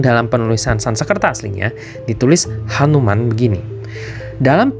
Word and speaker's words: Hanuman: penulisan Sansekerta aslinya ditulis Hanuman begini dalam pengucapan sini bunyi ha itu seringkali pengucapannya tipis menjadi anuman karena itu bisa juga